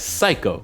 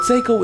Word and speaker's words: Seiko: I was informed in my last video's comment section that I was pronouncing Seikko's name wrong. I was pronouncing it as psycho, ironically enough, but thank you for correcting me.